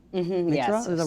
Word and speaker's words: Meteora: But I think it's like when I heard first time like a Meteora. Meteora, Yes. is that right pronunciation? Yeah, Meteora.